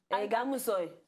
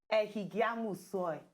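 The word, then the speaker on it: Ehigiamusoy: Egamusoy. No. Ehigiamu soy. Ehigiamu soy. Thank you. You see? But you say soil, soil, like soil, na soil, no be soil.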